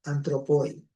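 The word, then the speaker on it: ἄνθρωποι: Se pronuncia hoy antropoi, ¿ya?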